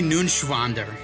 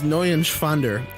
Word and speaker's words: Neuenschwander: Anthony Nunschwander. You didn't pronounce it right. That's Anthony Nunschwander. It's N-E-U-E-N. It's Neuenschwander. Anthony Neuenschwander. Dude, I always slept in